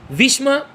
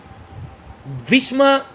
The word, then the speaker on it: ভীষ্ম: ভীষ্মা মানে অ্যাকচুয়ালি ভীষ্ম, বানানগুলো এইভাবে উচ্চারণ করবি।